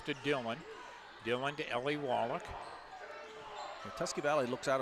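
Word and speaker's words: Woloch: Replaces Kyla Wallach. With Kyla and Natalia, it's spelled W-O-L-O-C-H, pronounced Wallach.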